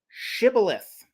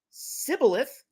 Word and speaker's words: Shibboleth: Quote, if he said no, they would say to him, Say now, Shibboleth. But he said Sibboleth, for he could not pronounce it correctly.